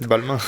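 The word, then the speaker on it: Balmain: Like buying a t-shirt from Balma or how you pronounce I don't know how you should pronounce it. Balmma. Balma.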